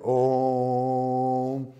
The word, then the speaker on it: Om: Este mantra é uma vocalização, então a pronúncia, né, do Om, pode-se dizer A1, mas é Om.